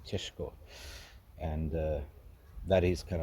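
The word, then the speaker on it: Šeško: to Elvis it's um it's actually cesco's chess guys um I must say that's the real pronunciation If You Are Slavic cheshko and uh that is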